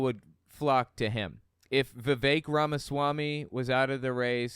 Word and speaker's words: Vivek Ramaswamy: Vivek Ramaswamy. That's how it's pronounced.